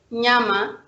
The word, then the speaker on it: nyama: And we have another word combination, ny, like in Swahili word nyama. It's pronounced nya, like in nyama, which means meat, or nyanya, which means tomatoes, but also like in English word cognac.